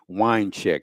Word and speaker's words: Wiencek: It was authored by Henry Weincheck, that's spelled Wiencek.